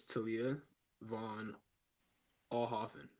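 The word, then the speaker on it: Talia von Oelhoffen: There's one way to pronounce it, the correct way. It's Talia Von Alhoffen.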